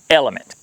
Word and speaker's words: LMNT: Today's sponsor is LMNT, pronounced Element.